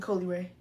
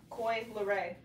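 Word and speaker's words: Coi Leray: How you say it? Coy Leray. Coy? Yes, Koi Leray.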